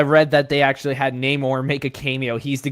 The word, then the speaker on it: Namor: I remember, I read that they actually had Namor make a cameo. He's the guy who goes eBay. Well, hang on, Brandon, you said it wrong. It's actually pronounced Namor, as they say in Black Panther 2.